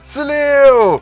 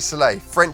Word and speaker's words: Soleil: Hal Sega Mega Drive oh Soleil est-il en fait prononcé comme j'ai b een l'appelant Celia depuis si longtemps, c'est en fait Soleil mot français pour soleil finalement l'a ajouté à